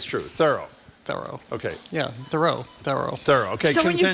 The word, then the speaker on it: Thoreau: Would you not agree, even if the proper pronunciation is Thoreau, what an affectation it sounds like to say that?